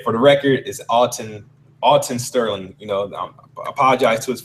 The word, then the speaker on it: Alton Sterling: want to say for the record is Alton Alton Sterling you know apologize to his family if I was uh Mis pronouncing his name and phando Castell I said